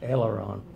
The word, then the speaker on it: aileron: felt his, and Bill, correct me if I'm pronouncing this wrong, his aileron lock. It's in the wing devices. Yes, aileron.